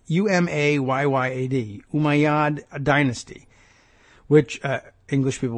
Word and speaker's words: Umayyad: The Umayyad, good pronunciation, challenge there, Umayyad, Umayyad, Umayyad dynasty, which English people would say dynasty,